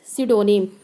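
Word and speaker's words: pseudonym: को क्या कहते हैं, स्यूडोनिम। पी is silent hair, the word is स्यूडोनिम।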